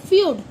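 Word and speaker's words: feud: एफ ई यू डी। इसे हम बोलते हैं फ्यूड।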